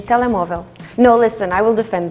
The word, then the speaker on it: Telemóvel: Telemóvel.